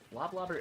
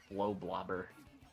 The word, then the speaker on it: Blobber: I was saying like blow blobber cuz I thought it was combining words blow and blobber, but I never I never thought that made sense.